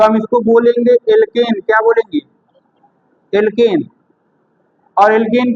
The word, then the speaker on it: alkene: ठीक है, एल्कीन है तो एल्कीन है, यानी स्पेलिंग है ALKENE एल्कीन। लास्ट में ENE जोड़ते हैं, इन।